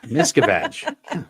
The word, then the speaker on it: Miscavige: Miscavige. It's easy, babe. Just remember the vag part.